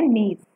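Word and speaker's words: gneiss: रखना है ग्रेनाइट और नीड्स जी इसमें साइलेंट होता है जो गिनीज लिखा हुआ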